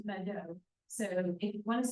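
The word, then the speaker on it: Meto: It looks like an M-E-T-O and it's pronounced Mado.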